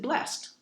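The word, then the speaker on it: bless'd: But if there's an apostrophe and a d at the end, like in blessed, if it's B-L-E-S-S apostrophe D, then you pronounce it blessed.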